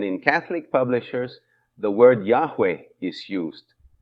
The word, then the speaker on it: Yahweh: In the Hebrew Bible, the name of God is written with four consonants and is pronounced Yahweh.